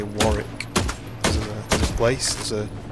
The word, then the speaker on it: Warwick: Next cir is warrick. Is that how you say it? Warrick or do you say it the American way? Warwick.